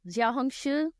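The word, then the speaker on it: Xiaohongshu: Jiaohongshu.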